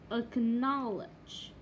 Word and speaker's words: acknowledge: Acknowledge. Acquit. Chả biết sao khi mà kiểu mình phát âm từ như này acquit đúng không, thì